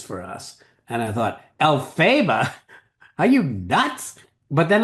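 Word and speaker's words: Elphaba: it's very important it's alphaba with stress on the first syllable exactly the way it is in the names Dorothy and Margaret and Hamilton for that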